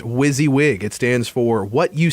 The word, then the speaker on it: WYSIWYG: got WYSIWYG and we found out it is pronounced WYSIWYG it stands for what you see is what